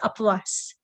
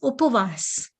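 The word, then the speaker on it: ઉપવાસ: Upvas, and even people will not say upvas, people will say apvas. Even the way how it is pronounced, we don't pronounce it in the correct way. It is upavas.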